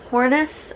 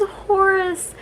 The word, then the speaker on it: Horus: just wrong it's like i called him hornets or something like that like i added an n which isn't which isn't a name um and i didn't realize that i had been reading his name wrong until he got a nickname in the 10th book and i was like oh that nickname only makes sense if his name is horus so yeah fun fact